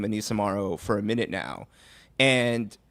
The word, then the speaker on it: Morrow: Yes, yeah, it is spelled Morrow, but we were informed by Tempo PR that it is pronounced Morrow, so we're going to work very hard on getting that.